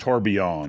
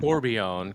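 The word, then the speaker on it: Tourbillon: So, Bugatti is sold out until 2029 when it comes to this uh Tibon. Well, I guess it would be pronounced Torbjon. Torbjon cuz it's a French word, but you know, I'm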